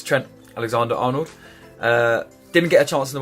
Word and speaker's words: Trent Alexander-Arnold: Okay, so moving on to my team, I've got Alexander-Arnold Trent. Sorry, that's not how you say it. It's Trent Alexander-Arnold.